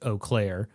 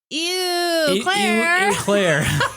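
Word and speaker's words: Eau Claire: I was also thinking about how I had no idea the name of that town was pronounced Oaklair. Whenever I would see it, I would be like, "Oh, it's eclair."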